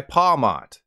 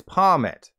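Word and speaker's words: Pawmot: everybody the entire time I called this guy palmat then I learned its name is based on a marmot so the official pronunciation is pomit fun fact I couldn't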